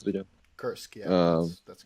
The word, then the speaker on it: Kursk: were taking back Kursk, is that how you pronounce it again? Kursk, yeah, that's correct.